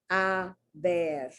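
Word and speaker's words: haber: talking about the verb i bear a bear and it's almost like english it's h a b e r so so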